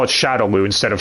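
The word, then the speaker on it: Shadaloo: hadouken not hadoken but hey they got shadowloo pronounced correctly yeah with the games they're more accurate they call it shadowloo instead of Shadow law so who's that bison's dialogue though with his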